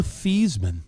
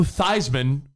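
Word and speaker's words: Theismann: it's a great story he wanted it to rhyme with Heisman so before he was in college he was Joe thieman Joe thieman went Joan and Joe thian became Joe thyman because he wanted to win the Heisman and then there's just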